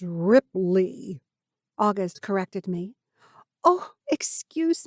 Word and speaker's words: Ripley: stammered we yes monsieur ripley i said with something along the lines of a french accent i intentionally made the end of his last name rhyme with hay instead of tea the small creases of